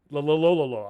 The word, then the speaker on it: Loyola: Loyola. I can't pronounce it right now.